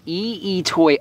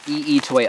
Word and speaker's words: I'itoi: so these are our ee toy onions now that is spelled I apostrophe i t o i it's ee toy at least that's my understanding so these are multiplier